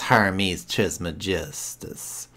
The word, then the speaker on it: Hermes Trismegistus: Excuse me, Trismegistus Joe. That's Hermes Trismegistus. So, because Joe didn't pronounce it correctly, and then he corrected him.